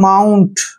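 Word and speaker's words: mount: word M ओ यू एन टी देखिए इसका उच्चारण हम अलग तरीके से करेंगे इसको पढ़ेंगे हम माउंट क्या पढ़ेंगे माउंट माउंट मींस होता है पहाड़ी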